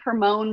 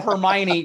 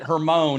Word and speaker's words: Hermione: Rachel, the first time she saw Hermione, pronounced it Hermone, and we've been making fun of her on the show for 2 years after that.